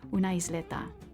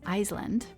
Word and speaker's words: island: to a very small islanda be careful with the pronunciation of this word like the word Island which students often pronounce mistakenly as iseland the letter s in